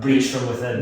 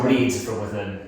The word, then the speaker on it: Breed from Within: Breach from Within? No, Breed. Breed. Oh, Breed from Within. Yeah. As in like, yeah, procreate and breed from this.